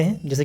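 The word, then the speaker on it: whose: डब्लू के साथ एच जुड़ा हो उसको ह भी पढ़ते हैं, जैसे कि हु, हुज।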